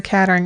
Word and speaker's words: Kettering: But the Kettering, it's either catering or Kettering. I think it's pronounced Kettering Hospital.